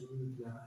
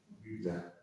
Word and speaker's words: Rubler: Councillor Just want to say that my surname is Rubler, as in Uber. Rubler.